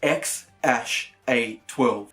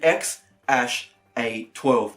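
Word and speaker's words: X Æ A-12: myself is supposedly pronounced ex ash a 12 I scooped further by Ellen on the jury report lost I mean it's just ex letter X and then the AE is like pronounced ash yeah and then a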